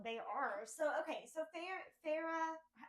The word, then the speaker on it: Feyre: So okay, so Farah, Feyre. Okay, right? let's talk about name pronunciations.